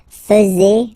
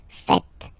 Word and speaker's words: faites: And it's quite funny because many French people tend to make the mistake and tend to say vous faisiez, okay? But then no. It's vous faites. Vous faites. Okay? So remember, final S here is not pronounced, and then this is not pronounced either. So faites, faites.